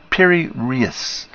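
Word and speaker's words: Piri Reis: Pronounced Piri-Reis.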